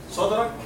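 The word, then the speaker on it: صدرك: Sadrak here. Sadrak. Dal, it is sakin, as you can see. It is sakina. Right? So it is sadr.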